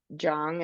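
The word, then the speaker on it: jeong: Um, and I want you to explain this word Jung. Am I pronouncing that correctly? Yeah. Jung.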